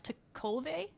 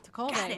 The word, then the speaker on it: Tekulve: on the pronunciation, but is it Bryce Tekulve? That's it. That's it. Good job. All right, Tekulve.